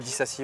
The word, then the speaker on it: Disasi: Et en vrac, il y a un certain Axel Disasi. Oui. C'est ça, je prononce bien ou pas? Ouais, Disasi, ouais.